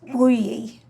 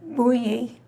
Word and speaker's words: Bugli: And in Italian, it would be pronounced Bugli. Very beautiful. Yes. Say it again. Bugli. Bugli.